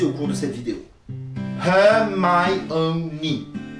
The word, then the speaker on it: Hermione: Hermione. 4 syllabes. On pourrait penser qu'il n'y en a que 3, mais en réalité, le O va faire syllabe à part entière, puisque on va bien sûr se retrouver avec une séparation entre le I et le O, tout simplement du fait